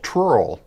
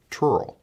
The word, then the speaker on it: trurl: Last tool is called trurl. Oh, that cannot be pronounced even.